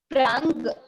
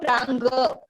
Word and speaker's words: प्राङ्: No ga afterwards, no ga afterwards.